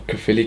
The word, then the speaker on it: Caerphilly: friends as well, so I know how to pronounce it. He went with his friend to Caerphilly Castle, Sunday the 17th of April.